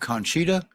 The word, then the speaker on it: Conchita: And how do you pronounce the name of that dog? Conchita? Correct. Okay.